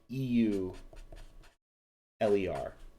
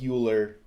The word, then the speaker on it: Euler: circuits and they're named after euler whose name is spelled eu ler looks like euler but this is pronounced euler and an eulerian